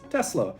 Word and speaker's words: Tesla: on an s now the reason it is tesla with s is because nikola tesla was a serbian inventor now he is from europe and in europe s's sound like s's because otherwise we would have really ridiculous words where s's become z's this is not the case it is therefore nikola tesla and the car brand is tesla we didn't actually come